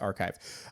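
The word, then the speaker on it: arXiv: No, no, it's a rxiv. I'm just imagining that phonetically it's pronounced archive. Uh, and cited by the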